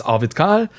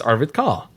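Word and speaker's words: Arvid Kahl: my name I think my name in German is avidkal and in English it's Arvid car right so you have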